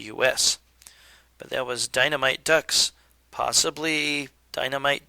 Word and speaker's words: Dux: dynamite ducks possibly dynamite dukes i think it's up to you as to how to pronounce it but that was uh dynamite and i'm going to pronounce it ducks because the protagonists are ducks dynamite ducks by sega